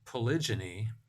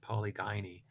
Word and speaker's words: polygyny: then the mating system polygyny tends to result. That's the way I pronounce it, and most people I know pronounce it, although I guess some people pronounce it polygyny.